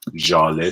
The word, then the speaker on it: Jaleh: Another one is This is Z and H is pronounced as J, so this is Jaleh Square.